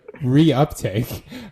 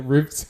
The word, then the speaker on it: reuptake: me the word and the Word was reuptake like reuptake neurotransmitter and he had pronounced it roof and the only reason